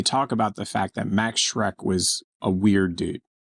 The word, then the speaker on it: Max Schreck: On this day, in 1879, the aptly named German actor Max Schreck, pronounced like Shrek, was born in Berlin.